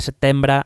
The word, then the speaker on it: setembre: de Sucesión Española y el famoso 11 de setembre de 1714. Muy bien pronunciado.